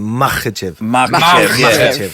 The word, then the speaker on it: Makhachev: Makhachev.